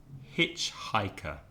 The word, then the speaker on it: hitchhiker: difficult and my students often have problems with hitchhiker because if you remember last week the problem